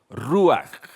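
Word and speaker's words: רוח: en hebreo ruaj.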